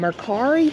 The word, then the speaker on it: Mercari: uses doesn't use ebay but we use um mercari have you ever heard of mercari i have